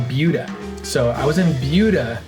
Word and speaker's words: Buda: Buda. It's spelled Buddha, but everybody kept reminding me, they're like, it's not Buddha. It's not like the praying guy.